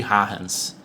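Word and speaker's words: Huygens: aqui, chamado princípio de Arens. Eu até tive que procurar qual era essa pronúncia, porque o sobrenome é holandês, então, ao que eu concluí, a pronúncia é essa mesmo, princípio de Arens.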